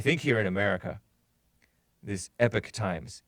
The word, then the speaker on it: Epoch Times: into the folder pronunciation I thought it was a POC times and if you're British you would pronounce it epoch times but Americans pronounce it epic times I didn't know that but epic times is encouraged it's a sort of